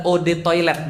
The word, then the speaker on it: eau de toilette: nggak bayar sombong banget eau de toilette adalah Ode toilet bacanya e-awb atau out